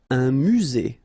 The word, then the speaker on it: musée: Un musée. Final not pronounced.